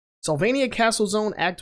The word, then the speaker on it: Sylvania: I think it's Sylvania Castle, kind of like Transylvania.